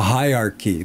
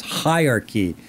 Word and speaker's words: hierarchy: Yeah, it shows a hierarchy. That was another word. Yes, hierarchy. So we have the syllable stress on high. Hierarchy.